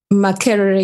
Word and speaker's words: Makerere: And the university in Uganda, how do we pronounce that? Makerere University.